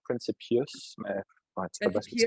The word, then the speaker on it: Principius: Pour payer, ben, on le prononce un peu plus à l'anglais, genre Principius, mais ouais, tu fais bien ce que tu Principius.